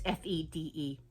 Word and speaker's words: Fede: When you work with Fede Alvarez as a producer, I'm sorry if I pronounced that first name wrong. It's Fede.